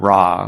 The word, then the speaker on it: Ra: And she loved dragonflies, and dragonflies were connected, I'm told, to the ancient Egyptian god Ra, or Re, as some people pronounce it.